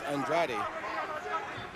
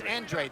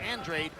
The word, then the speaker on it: Andrade: effective and they say the pronunciation of his name is Andrade I don't know nope actually it's Andre the family prefers Andre even though it looks like Andrade and if if they